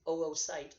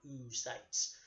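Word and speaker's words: oocyte: O's at the beginning note that you pronounce each of them separately it is oo site not you sites sometimes they'll see two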